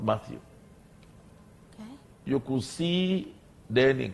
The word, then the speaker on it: Matthew: mine to you not matthew you could see then in class and because we were friendly okay he could hear people who could not pronounce mathieu properly call me mind you oh so and then